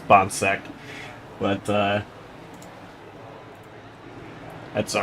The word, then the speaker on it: Bonck: loves saying the broadcast pronounced my last name wrong again it is bom but uh that's all